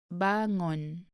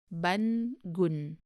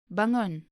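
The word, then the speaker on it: bangun: the second verb is bangon be careful not to pronounce it as ban gun it is it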